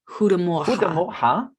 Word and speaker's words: Goedemorgen: Goedemorgen. Goedemorgen. But it's spelled God Morgan. Yes. Yeah, good morgen. Yeah. Goedemorgen. Goedemorgen. Morgen. That's it. That's better. Yeah. Goedemorgen. Goedemorgen.